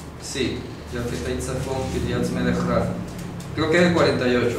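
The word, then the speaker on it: רב: abundante, Rav, en hebreo, se escribe así, se pronuncia así, Rav. Esa palabra también significa Señor, ¿ya? Y aparece en un salmo, creo que es el Salmo 48, dice, Kiryat Melech Rav, es la ciudad del gran rey, es decir,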